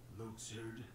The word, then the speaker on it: Luxord: No, the question is, who are you, Luxord? Ooh, God, that's how you pronounce, that's how he says it?